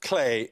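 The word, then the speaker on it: Klee: It's usually pronounced clay.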